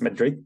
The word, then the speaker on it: Madrid: But basically, the way Madrid is pronounced in Spanish is with a much softer end. It's Madrid, Madrid.